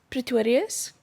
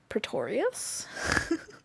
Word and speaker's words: Pretorius: It is Pretorius. But the Americans and the English speakers out there like to say Pretorius.